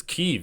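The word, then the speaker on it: Kyiv: I did mispronounce it it's keev not Kev what am I doing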